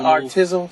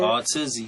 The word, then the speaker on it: Artizzy: Is it Artizzle? Is that how you say it? Artizzy, yeah. Yes, Tizzy.